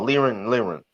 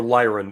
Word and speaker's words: Lyran: Oh, Liren. Yep, or Lyran if you're, No, mispronouncing it. Lyren. No. Yeah. I say Lyran because it's like the Constitution Lyra because that's where it is, or a constellation.